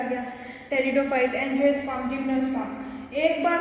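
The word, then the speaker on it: pteridophyte: अब किसी भी प्लांट के लास्ट में फाइट्स आए, टेरिडोफाइट, मैंने पहले भी बताया कि इसका पी साइलेंट रहता है, इसको पेटिडोफाइट नहीं बोलते, टेरिडोफाइट बोलते हैं, फाइट्स, ब्रायोफाइट्स प्लांट, ठीक है।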